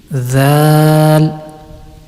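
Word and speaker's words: ذ: And Mkhraj of Zal, Zal is pronounced when the tip of the tongue touches the edge of the upper two front teeth, and it will be Zal, Zal.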